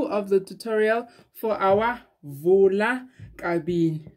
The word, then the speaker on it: Vula-kabini: the tutorial for our vola carbine not vula thank you so much you helped me so much in the comment section and now i know that it's been saying it wrong all this time but i'm